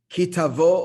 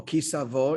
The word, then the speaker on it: Ki Tavo: So conclusion, ki tavo or ki savo in the Ashkenaz pronunciation, or tavo, it doesn't just mean, a casual encounter.